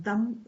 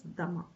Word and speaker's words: दमः: Otherwise, in Hindi, dam is fine. But in Sanskrit, it is dhamma. Okay.